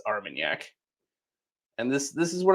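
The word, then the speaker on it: Armagnac: It's not Armanac, it's Armenyak.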